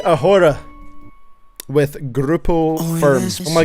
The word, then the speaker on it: ahora: Y Ahora, with Grupo Firm. Oh my god, he's whipping out the acoustics. The H is silent? I thought so, yeah. Y ahora.